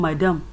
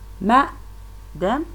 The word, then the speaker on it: madam: Even though in Nigerian English we are saying madam. No, it is not like that. It should be pronounced as ma-dem.